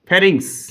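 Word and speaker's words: pharynx: কি বলা হয় গলবিল ইংরেজিতে এটাকে ফেরারিংস বলে ইংরেজিটাও একটু মনে রাখবে এইটার ইংরেজি নামটা মানে ইংরেজি টার্মটা বাংলাতে উচ্চারণ করে লিখে নাও ফেরিংস ফেরিংস কে গলবিল এইখানে শ্বাস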